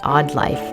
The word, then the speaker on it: AWEd Life: Hi, I'm Hallie, and I'm here to welcome you to The Odd Life. That's spelled A-W-E-D, which stands for awake, well, and empowered.